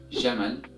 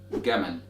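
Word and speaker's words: جمل: Now in Egyptian Arabic dialect, however, this word is pronounced as Gamal, Gamal with the G sound, and so on with the example.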